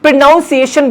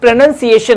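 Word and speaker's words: pronunciation: correct प्रोनंसिएशन ये है अब कुछ लोग प्रोनाउंस एशन बोलते हैं बट वो प्रोनाउंस एशन नहीं होता वो प्रोनंसिएशन होता है क्या होता है प्रोनंसिएशन ठीक है तो ये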